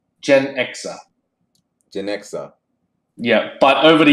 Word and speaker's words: Genxa: And it became, and it is officially pronounced Genxa.